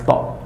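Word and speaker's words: ط: Yaitu ujung lidah. Nah, ujung lidah dengan pangkal 2 buah gigi.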